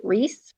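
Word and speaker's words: Rhys: and then I don't even know how to pronounce his name RH Ys R Reese r Reese Reese from exposed by um christien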